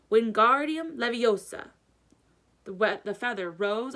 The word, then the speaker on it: Wingardium Leviosa: having much luck when Guardium Leviosa he shouted waving his long arms like a windmill you were saying it wrong Harry heard Hermione snap its Wingardium Leviosa make the GAR nice and long you do it then